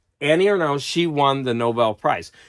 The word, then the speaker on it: Annie Ernaux: now so Annie uh and I've heard it pronounced no because you know you have to say it with a French accent spot I'd say Annie or no so Annie or now she won the Nobel